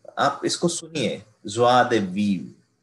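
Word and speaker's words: joie de vivre: तो ऐसे पढ़ेंगे, बट इसका एक्चुअल प्रोनाउंसिएशन कैसा है, ज्वा दे वीव, ज्वा दे वीव. ओके, ऐसे पढ़ना है इसको अगर आपको बहुत ही फ्रेंच साउंड करना है तो, है ना, because these are French words, है ना.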